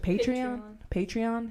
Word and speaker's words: Patreon: So that's pretty much going to be on our Patreon. How do you say that shit? Patreon?